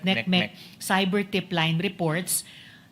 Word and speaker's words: NCMEC: Uh partly it's accounted for by the fact now uh bat tip NCMEC or neckmech as they pronounce it neckmech cyber tip line reports.